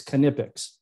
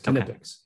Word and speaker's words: Knipex: In fact, we came up with a t-shirt that says how to pronounce the name of the company. Okay. So for us in North America, it's Knipex. Knipex. Yeah, it's Knipex.